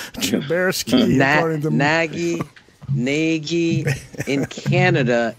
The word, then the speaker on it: Trubisky: Yeah, Brian Urlacher, Mitch Trubinsky. It's Trubersky, according to Nagy in Canada is Nagy, and he must be part Canadian.